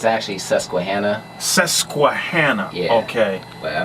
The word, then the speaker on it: Susquehanna: of how you made the transition from studying sasquatch universe first of all man is that the correct pronunciation it's uh it's actually susquehanna sesquihanna yeah okay but i mean it was